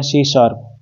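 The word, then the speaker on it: C#: सी plus क्या सी hashtag, ये सी शार्प की तरह यूज होता है, मतलब इसको बोलते हैं सी शार्प, प्रोनाउंसिएशन इसकी सी शार्प होती है, ठीक है।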